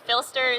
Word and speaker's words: Phlster: Filster is spelled Phlster, and they have a